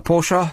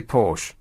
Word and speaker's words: Porsche: decreasing vehicle emissions uh pora spoke if you say it too much it just becomes irritating I'm just going to say Porsche and that's it Porsche sounds like it